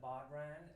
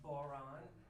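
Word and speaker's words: bodhrán: the boron i used to call it the baudran and that's not how you say it it's pronounced boron the scan is goat skin and most of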